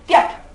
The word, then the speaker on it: Tyat: The real form is Tyat, T-Y-A-T, Tyat. But according to the rule of grammar, the last T coming in Tyat, T-Y-A-T, the last T coming in Tyat is dropped out. Is silent, it is dropped out while writing and while speaking also.